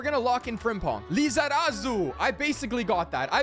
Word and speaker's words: Lizarazu: Lazaru? Larazu? How do you say his name? But we're going to lock in Frimpong. Lizarazu.